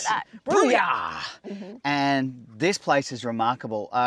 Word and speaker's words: Brooyar: Brooyar! You got to say it like that. Brooyar!